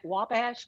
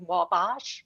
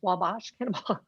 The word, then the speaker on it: Wabash: indiana uh we must she's saying it's not pronounced with a broad a so that would mean wabash wabash yes anyway we stand